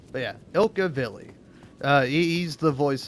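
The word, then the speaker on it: Ilkka Villi: But yeah, Ilka Villi.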